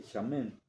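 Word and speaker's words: שמן: palabra en en en hebreo es chamen se pronuncia más o menos así chamen y quiere decir pues obviamente que es gorda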